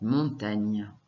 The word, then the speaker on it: montagne: Donc, montagne, il y a le son NI qu'on vient d'apprendre, il s'écrit GN. Le E qu'on n'entend pas.